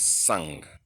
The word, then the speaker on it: sang: We now have this word called, pronounced as sang, sang.